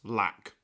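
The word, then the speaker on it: 6LACK: name of black and it's spelled six black that's pronounced black what so let me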